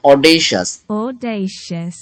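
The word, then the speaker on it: audacious: Google translate যেটা বলছে সেটা কিন্তু অডেশাস হ্যাঁ অডেশাস অডেশাস হ্যাঁ এ ইউ ডি এস সি আই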